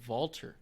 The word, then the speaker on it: Walter: other problem with walter it's pronounced valter but no one does it so he already gets